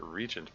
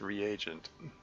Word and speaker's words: reagent: I seem to recall pronouncing it regent back then. And then at some point I looked it up. It's like um no dictionary says it's reagent.